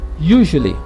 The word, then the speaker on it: usually: Interessante que nós escrevemos com S, mas a pronúncia é com som de J. Usually.